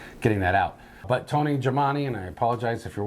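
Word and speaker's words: Gemignani: called Pizza Rock and I know I'm going to say his name wrong but it is uh owned and operated uh by Tony Jamani does that sound right Jamani you're you're pretty close I think you're missing a syllable there maybe you know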